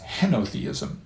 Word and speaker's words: henotheism: and that form of theism is known as henotheism that's spelled h n o t h e i